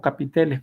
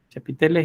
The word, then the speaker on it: chapitel: chapiteles y agujas bueno algunos los pronuncian como capiteles por cierto pero yo para para diferenciar lo de los capiteles como un término que utilizamos decimos así como se escribe chapitel chapiteles y aguja las agujas